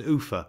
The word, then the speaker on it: Ulpha: The next place of any consequence after leaving Seathwaite is Ulpha, pronounced Ufa by the dalesmen.